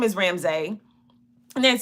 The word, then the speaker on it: Ramsy: m s y and they say oh Ramsey I said no ramse and they say R A Ms a y I said yes ramse not ramse e you